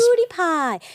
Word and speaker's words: PewDiePie: PoodiePie.